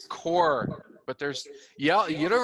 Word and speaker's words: Corps: s is silent people the s is silent core but there's yeah you